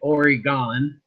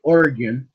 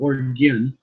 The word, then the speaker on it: Oregon: because until he decides to stop calling it oryon and calls it Oregon just think G and then or G like an Oregon but you go orgon that's how it is pronounced by us here